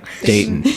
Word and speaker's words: Dayton: I've gotten better with not pronouncing the t in Dayton cuz when I first I'm like Dayton and people nobody says that there's like it's like dayton like Dayton.